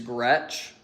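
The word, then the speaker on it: Groetsch: And then my last name is Gretch. And that's going to be spelled G R O E T S C H.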